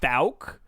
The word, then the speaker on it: Fouke: yeah i think it's falc because wikipedia says the oh you is pronounced like oh you and mouth oh all right so i think it's the falc monster i could be wrong